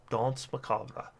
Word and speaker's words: Danse Macabre: take I'm gonna take Danse Macabre it's not what how it's pronounced Danse Macabre so now we're taking